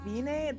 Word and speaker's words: Wiene: What the hell is Vine? Is how they were pronouncing her name in the English one with a V. But in the sub, it was a W, like wiener, but without the R.